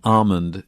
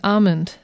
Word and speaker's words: almond: soybean milk almond milk the l in almond in in most american dialects is not pronounced we say almond yes almond far west